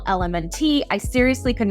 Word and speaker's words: LMNT: electrolytes and funny thing I kept calling them Elemental element I seriously could not pronounce this but I've got it down now